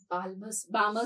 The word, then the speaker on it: Balmer: electron will come onto Balmer series. L is silent.